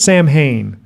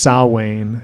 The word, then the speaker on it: Samhain: He calls it Samhain, but it's definitely pronounced Samhain in correct, like Celtic or Gaelic. I don't know much about it. All I know is he like pretty egregiously mispronounces this word. He just pronounces it phonetically.